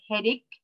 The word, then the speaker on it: headache: So the first one is a headache. And we said CH here is pronounced K, not CH.